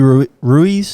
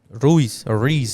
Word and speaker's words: Ruiz: like out of nowhere oh andy ruiz andy reese i'm saying it right andy reese mexican is so weird rui ruiz no reese the fat mexican andy reese ruiz reese andy reese reese thank you in english in english it's reused